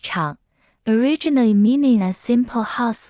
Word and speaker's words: 厂: Its original meaning refers to cliffs, and it is pronounced han. Factory in traditional Chinese is pronounced chang, originally meaning a simple house with no walls